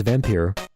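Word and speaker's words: Vampyr: So if we're going to spell it with a Y, I pronounce it vampire because that's how Van Helsing, played by Anthony Hopkins, said it in Bram Stoker's Dracula, which is one of my favorite movies.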